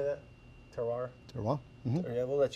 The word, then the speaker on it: terroir: Terroir?